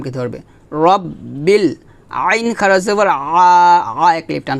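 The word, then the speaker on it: رَبِّ: আমার সাথে বলেন আলহামদুলিল্লাহি রব্বিল রব্বিল রব্বিল এখানে রাব্বিল বলা যাবে না বলতে হবে রব্বিল আলহামদুলিল্লাহি রাব্বিল আলামিন আলামিন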